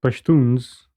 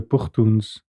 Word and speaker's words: Pashtuns: So the Pashtuns or the Pukhtuns, depending on your pronunciation, are divided between Afghanistan and Pakistan.